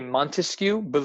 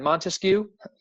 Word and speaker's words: Montesquieu: Best way to think of Montesquieu, think of how many syllables are in Montesquieu. Montesquieu, 3 syllables.